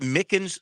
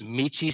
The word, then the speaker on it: Michie: And let's see, Army, that is that Mickens Stadium? I want to say Mickens. Michie Stadium.